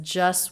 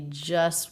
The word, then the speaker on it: just: He says just worked. The word just is so often pronounced this way with no T. We just worked.